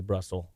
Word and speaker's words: Brussels: with with the almighty Brussels that rhymes with muscle Popeye spinach but since